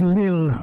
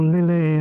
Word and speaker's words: Lille: We're not in Brexit, but so we're actually heading towards Lille, or Lille, or I don't know how you pronounce it, Lille I think, isn't it?